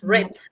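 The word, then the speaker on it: read: En su pasado es red, como el color rojo.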